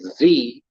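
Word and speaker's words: xie: was it says z it was like x i e right but you pronounce it z and then underneath that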